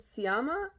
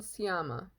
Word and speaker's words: Sciamma: The SC is kind of confusing me because that's not common in French, and I'm assuming she's French because the movie is French. Céline Sciamma.